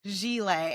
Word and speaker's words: Gilet: I was calling him Gillet, and he was like, "I know you're not calling me Anthony Gillet." He was like, "It's Gilet," and they're definitely crustaceans.